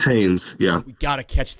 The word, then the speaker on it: Haynes: Hayes, just by the way it's spelled. It's Haynes, yeah.